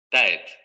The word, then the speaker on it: tête: Ta, a, ta, a ta, at, Pero nosotros no pronunciamos tet, como pronunciaríamos time, por ejemplo, ¿no? Aquí vamos a tener tet. tet, Vean, es la dental. tet, tet, tet, tête, tête, tête, No decimos TED, como en time, vamos a decir TED, TED, TED, TED.